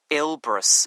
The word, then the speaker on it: Elbrus: let's see um mount elbrus it's called wow now that's really quite something by the way elbrus is spelled e l b r o s isn't it not quite it's u s ah okay what qualifications